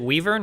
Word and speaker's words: wyvern: Is it Weavern or Wyvern? How do you pronounce this? Wyvern. I say Wyvern, but whatever.